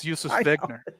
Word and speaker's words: Wegner: But that's not how you would pronounce it. It's Josef Wegner.